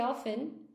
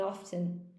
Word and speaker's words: often: First time heard the pronunciation of often with T inside. Ah, okay, Zazu. That's so sweet. Do you normally say often? Yeah, I always put the T in often.